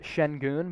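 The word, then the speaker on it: Şengün: and for future reference his last name is pronounced shen goon but it is spelled sengun i think alperin shin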